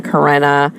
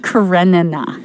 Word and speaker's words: Karenina: I just picked, like, not the ones I knew you were picking, like Anna Karenina with the extra syllable and... Anna Karenina. I'm not adding that extra N.